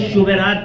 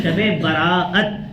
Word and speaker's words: شب برات: असल लफ क्या है कुछ शुबे रात कहते हैं कुछ सबे रात कहते हैं यह सब गलत प्रोनाउंस है गलत तलफ है सही तल क्या है शबे बरात छुटकारे की रात खुलासे